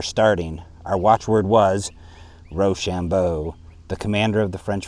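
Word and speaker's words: Rochambeau: our watch word was Ro Shambo the commander of the French forces a good watch word for being pronounced R Shambo it sounded when pronounced quick like Rush on boys we had not Lin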